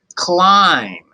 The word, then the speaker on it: climb: and time and climb climb does have that silent B at the end I'm no fan of silent letters you know how I feel about it if you're gonna be in a word do your job but in this case B's not doing its job it's just silence make sure that your words